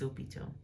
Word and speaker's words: hôpitaux: Again, here there's no need to because we've got the liaison, les hôpitaux.